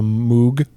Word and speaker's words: Moog: Put him on the Moog synthesizer. There you go. Is it Moog? Did I pronounce that right?